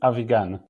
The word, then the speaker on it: Avigan: that's and my last name is aigan aigan right and I know you're from Israel